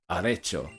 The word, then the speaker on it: arrecho: Okay, you see how you pronounce perdedor? The way you use the E there. Arrecho. Is that right? Arrecho. Finally, it sounds flippin'. I almost said Italian, Spanish. Arrecho.